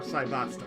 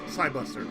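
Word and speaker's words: Cybuster: Japanese, they would say it's Sai. Japanese is pronounced Saibusta or Saibasta. Pronunciation. English is Saibuster.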